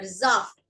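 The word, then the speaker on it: Saft: Once again, thus beer and juice is called their zaft. S is pronounced as Z whenever it is in front of a vowel.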